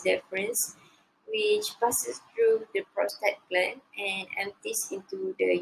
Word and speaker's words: prostate: is the prostate gun prostate pronounced like rose state it lies under the